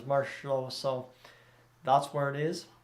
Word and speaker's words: Marchessault: No, I think that's how I've always heard it, is Marchessault.